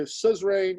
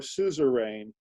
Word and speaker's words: suzerain: word suzerain or suzerain i've heard pronounced with two syllables and three syllables and i've heard each syllable pronounced differently i've heard emphasis emphases